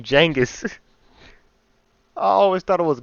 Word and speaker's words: Genghis: don't like the way he say his name Jenis? I always thought it was Genghis. Jangus beneficial among the Mongol Empire or did